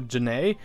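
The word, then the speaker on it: J'Nae: It's not just, it's like J and then apostrophe N-A-E. So Janae.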